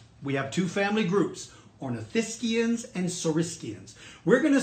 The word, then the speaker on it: ornithischians: lizard him and the others are are called ornithischians that means bird hip that is spelled o are n I th is ch